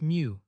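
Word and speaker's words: μ: X, the Greek letter mu, pronounced mu, represents the population mean.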